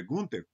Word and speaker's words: Günter: O Günter Axt, eu pronuncio assim esse nome, né, alemão, porque ele não quer ser chamado de Günther, ele é Günter.